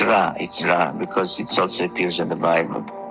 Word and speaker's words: Ra: I mean, the same people who spell it Re, R-E, then go and write the name of the pharaoh Ramses, which means issue, emanating from Ra.